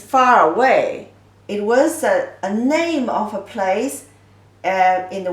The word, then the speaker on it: 那: The pronunciation is 这. Simplified version is just 点横撇捺点横折横折捺. This character means there. 那 na, the false tone.